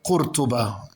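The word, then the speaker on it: Córdoba: and breathtaking Number four, Cordoba or Cortuba as in Arabic or Cordoba as the Spanish would um uh pronounce it.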